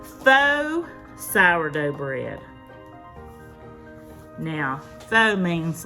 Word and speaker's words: faux: Now th means like I guess fake kind of pretending to be so or fa I don't know how you pronounce I'm in the south so I say faux but it substitutes I guess sour cream and apple cider vinegar in the recipe.